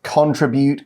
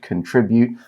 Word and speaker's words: contribute: your company 你可以对你的公司做出贡献 Now, you may have noticed Elsie and I pronouncing that in slightly different ways. Contribute, contribute, Both are absolutely fine.